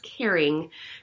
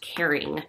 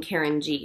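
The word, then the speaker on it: Karyng: Karen Grossman and so she did a little play on her names and it's pronounced caring I've been saying Karen G which is incorrect this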